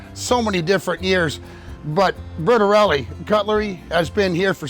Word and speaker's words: Bertarelli: Bertarelli Cutlery. Wow. And like, I'll just say it's Bertarelli.